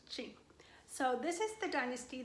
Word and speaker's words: Qing: The Manchu dynasty happened in 1644, and it was also the Qing dynasty, Q-U-I-N, but it's pronounced Qing.